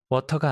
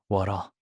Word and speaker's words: water: 경비 아저씨, 이 문장은 혀를 좀 더 굴려야 해요. 워터가 아니고 워러.